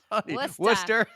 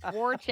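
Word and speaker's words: Worcester: Worster. Westa West. That's Thank you. Warchester.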